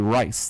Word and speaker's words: Rice: Her last name is Reese. It's really Rice. They changed the pronunciation when they moved to the United States.